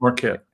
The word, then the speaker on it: Marquette: Is that how you pronounce Marquette. that? Marquette.